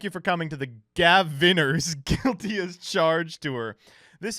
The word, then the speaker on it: Gavinners: It rhymes with pioneers? Gavinners?